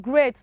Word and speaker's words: great: earlier i said ea also there's some words that have ea together and it has been pronounced as hey and that is exactly what this is saying out we have okay we